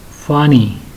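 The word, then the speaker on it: فانی: Like this is the connected form, and this word has 4 alphabets: Fe, Alif, Noon and Ye, and it is pronounced as funny.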